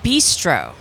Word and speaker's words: Bistreaux: Louisiana Bistro. Yeah, that was. Yeah. But it's spelled bistro, Bistreaux.